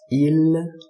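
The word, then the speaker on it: ils: And so the last personal pronoun uh they in English becomes ill with an s in French. So uh bear in mind that the s is not pronounced.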